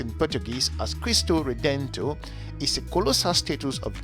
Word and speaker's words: Cristo Redentor: straight into it christ the redeemer which is pronounced in portuguese as crystal redento is a colossal status of jesus christ at